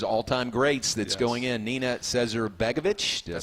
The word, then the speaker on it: Nina Cesar-Begovic: There's one of women's tennis's all-time greats that's going in, Nina Cesar-Begovic.